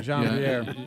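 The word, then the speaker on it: Jean-Pierre: Corrine, is it Corrine Jean Pierre? Do I have that right? Because I mean, Jacques Chirac. Jean Pierre. Yeah, Jean Pierre. She must be from Louisiana. Corrine Jean Pierre.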